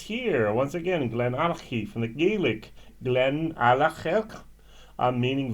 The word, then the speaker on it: GlenAllachie: Now, if you've not only heard of it, you know what it means and how to pronounce it. GlenAllachie.